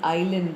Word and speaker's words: island: In island, the S is silent.